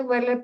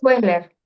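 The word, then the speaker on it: Wechsler: También estaba interesada en el test de Weller para niños, si es posible me lo puede este ubicar, le agradezco. El test de Wesler. Sí, el test de Wesler se pronuncia así.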